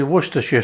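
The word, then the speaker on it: Worcestershire: There's some serious sourness going on here with the um Dijon mustard, the worester sauce, and for all you people want to say it properly, worersha sauce and the tomato puree.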